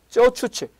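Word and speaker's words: 走出去: 선진화를 단기에 달성하려는 레노버의 이거 중국 한자를 우리식으로 발음하면 주출거인데요. 중국 발음 발음은 쩌추치 전략의 일환으로 해석할 수 있습니다.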